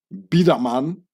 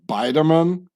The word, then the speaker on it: Biderman: can see here baman so I pronounce it in the Swiss German way is a Swiss German name which got angli fied into bman leaving out the E and the N just like the name Huber becoming Hoover which was